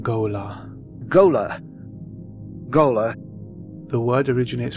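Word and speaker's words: Ghola: pronounce it Goler Frank Herbert pronounces this word go la Gola gola the word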